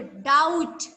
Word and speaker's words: doubt: अगर आपको कोई चीज श्योर नहीं है तो आपको, yes, very good, डाउट। Spelling of डाउट?